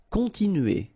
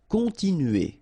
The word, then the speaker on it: continuer: Continuer. All right, so here, nasal, continue, remember, U, and then E. Continuer.